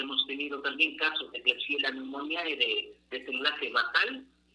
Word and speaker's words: Klebsiella: Tenemos la bacteria Klebsiella, así se la pronuncia, voy a dar el